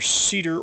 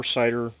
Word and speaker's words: CIDR: Classless subnetting, or CIDR notation, CIDR, which is classless interdomain routing, pronounced I've heard it pronounced either CEDAR or CIDR. Most people call it CIDR notation or CIDR domain routing.